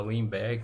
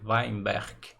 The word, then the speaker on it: Weinberg: fala a portugues an né a gente fala weberg mas o eh parece que a pronúncia correta é weinberg tem até um k no final aí né